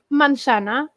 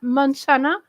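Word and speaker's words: manzana: Mansana. Mansana. It's not very very different. I mean masa. Mansana. For the Portuguese, it's easy to understand, I think. Mansana. Yes. The Spanish pronounce all their vowels.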